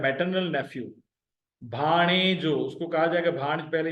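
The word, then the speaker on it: ڀاڻيجو: णे, तीसरा ऐसा जो, भा णे जो, भा णे जो। भे और अलिफ जबर के साथ मिले हुए, णूण याणे और ये जबर के साथ मिले हुए, जीम और वाव जबर।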